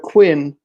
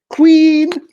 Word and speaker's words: Quinn: my name right so instead of quinn they'd say queen sorry i was their